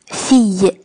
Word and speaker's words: fille: 这是勒康先生和勒康太太的女儿。看到这边 fille 出现了2次，注意这个单词的发音哦，它要读成 fille fille。